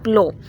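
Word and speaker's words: plough: Show कर रहा है, प्लो। अच्छा कुछ लोग यहाँ पे इसके रॉन्ग प्रोनाउंस इसे करते हैं, प्लफ बोलते हैं, बट the right pronunciation is प्लो the field इसमें क्या है, ऑब्जेक्ट है।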